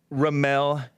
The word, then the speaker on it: Ramel: Ramel, I think is how you pronounce it, right? Yes, that's correct.